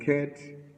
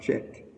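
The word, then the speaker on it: חית: Sometimes the word, some people read the word ket as chet. Okay? Even though it's spelled C-H-E-T, if you're trying to bring it, the consonants into English. Yeah, it have the K sound.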